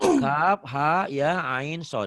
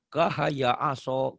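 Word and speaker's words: كهيعص: Atau kaf kaf ha ya ain sod. Harusnya kan gitu. Tiba-tiba dibaca kahaya aso.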